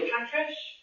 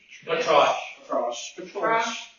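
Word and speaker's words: Patrasche: With, you know, Patrish? Patrash. You sure about that? I thought it was with an E. Patrish. No, the E is silent. There's an E at the end. There is. Patrache.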